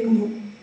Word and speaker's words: GNU: si legge quindi praticamente non dovremmo dire New ma dovremmo dire G Allora facciamo un po'